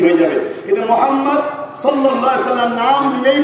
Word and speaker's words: মুহাম্মদ: সুবহানাল্লাহ, বলুন মুহাম্মদ, মুহাম্মদ, আহমদ। এবং ঠোঁটে ঠোঁট না লাগিয়ে কেউ উচ্চারণ করতে দিতেই হবে।